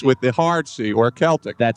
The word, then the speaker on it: Celtic: And And I always thought that Celtic was someone like Larry Bird. Mhm. And the correct pronunciation is with the hard sea or Celtic.